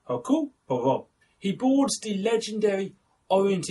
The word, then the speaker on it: Hercule Poirot: It's not Hercule. He does not fight lions. It is Hercule Poirot. I don't know why I do the accent when I say it, I'm sorry, but I just have to pronounce it like that.